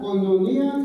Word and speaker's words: koinonia: Y miramos que había un compañerismo que en la palabra griega, hermanos, se dice o se pronuncia koinonia, que significa contribución en el alivio, compañerismo espiritual.